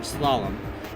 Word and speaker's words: slalom: again solemn is islam i don't know how to say this damn word slalom because that's the word that's how you say it slalom um it's such a